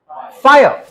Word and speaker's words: fire: ये बात नोट करके रखो, अगर किसी वर्ड में आर आता है, आर है ना, लास्ट में आता है, सेकंड लास्ट आता है, तो हमको आर प्रोनाउंस नहीं करना है, आर करके क्या बोलना है, आ, फायर।